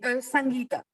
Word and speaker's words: Sangeeta: Suivi de Ritika, suivi de Alors, je suis désolée, ça se prononce Sanjita ou Sangita? C'est Sangeeta. Sangeeta, super.